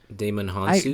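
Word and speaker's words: Djimon Hounsou: I think the J is silent. Damon Hansu.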